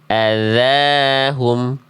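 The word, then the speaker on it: أَذَاهُمْ: Dalnya berapa harakat? dua harakat. Jadi, cara melafazkan huruf dalal ujung lidahnya dikeluar ee ujung lidahnya disentuhkan ke ujung gigi sehari atas kadarnya dua harakat ya. Adzahum adzahum ya.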